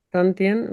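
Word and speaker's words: 丹田: que Tantien, bien pronunciado, y que los hinduistas o otras culturas llaman jara.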